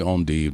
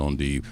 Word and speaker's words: endive: So, and I say endive, that's the French pronunciation, Belgian endive. Some may say endive. I just say endive.